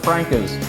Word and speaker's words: Franca's: Yeah, it's pronounced Franca's technically, but everyone has their little personal preference on that.